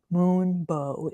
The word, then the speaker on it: Moon Bow: I keep saying this wrong, which is why I just overpronounced it that time because I keep calling it not Moon Bow. Moon Bow is the name.